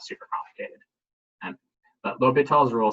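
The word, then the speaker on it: L'Hôpital: we have this rule it's called l'hopital's rule sometimes it's spelled like this sometimes it's spelled as l apostrophe hospital they're both fine um anyway it's called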